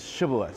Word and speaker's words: Shibboleth: of them they said alright satiable I was Shibboleth Shibboleth means streams that cause I mean ear